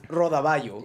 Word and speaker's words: rodaballo: Because it's rodaballo. Yeah. That double L turns into a Y, so it's rodaballo al pilpil.